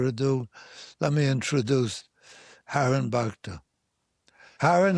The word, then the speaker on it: Bhakta: Okay, I'm delighted that we have a super guest tonight, an outstanding Wall Street person named Haren Bhakta. It rhymes with doctor, Haren Bhakta.